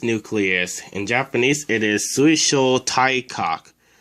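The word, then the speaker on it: 水晶体核: The first symbol is sui. By itself, it's pronounced mizu and means water, but in this word, it's pronounced sui. The second letter is sho. The third letter is tai. By itself, it's pronounced karada and means body. But in this word, it's pronounced tai. The fourth letter is kak, and it means nucleus.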